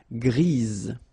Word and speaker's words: grise: So when you add this E, basically it gives you the pronunciation or the possibility to pronounce the previous letter here. It's Z. Grise.